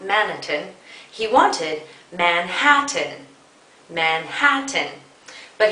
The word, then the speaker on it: Manhattan: not managing he wanted Manhattan Manhattan but he had shifted to stress from the second syllable Manhattan to the first syllable Madison as a result